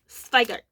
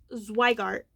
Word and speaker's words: Zweigart: Yes, I will always pronounce it Zweigart. Ich spreche Deutsch. Es ist Zweigart, not Zweigart. Zweigart.